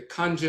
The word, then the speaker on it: kanje: They thought that we were mispronouncing conjure, like a conjure man who conjures spirits and so forth and conjures energy, which is what we're doing. But we weren't mispronouncing the English word conjure. We were saying kanje, kanje man, kanje woman.